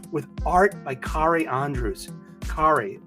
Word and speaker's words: Kari: Kari rhymes with Atari. You know that's how he says how to pronounce his name.